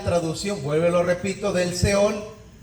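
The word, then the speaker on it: שאול: ¿Y cómo se dice en hebreo? Hebreo, sepulcro, seol, seol.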